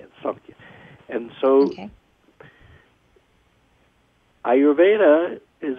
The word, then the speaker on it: Samkhya: And Samkhya is written with an M, but it's pronounced Samkhya.